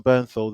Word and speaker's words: Bernthal: this really interesting uh what's his name john birth but let me say his name right burn his name right yeah john bernthal the punisher also was in sicario gangster field